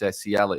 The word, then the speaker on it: Nsiala: It was a lad that was linked, I think, a week or so ago, Clinton Nsiala, or Nsiala. I think it's Nsiala is how you pronounce it.